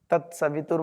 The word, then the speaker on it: सवितुर: को बताना है तत्सवितुर और व में इ की मात्रा है वो ह्रस्व सभी जल्दी बोलेंगे तत्सवितुर वरेण्यम वरेण्यम वरे ए